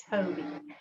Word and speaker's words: Tobii: device called the tobii and it's spelled t-o-b-i-i toby um toby's are now